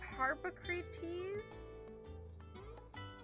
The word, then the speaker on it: Harpocrates: I immediately trailed off seeing that this guy's name is Harpocrates? Harpocrates? Why do they have to make his name so hard to say? I know how to say it because of Socrates, but still, like, my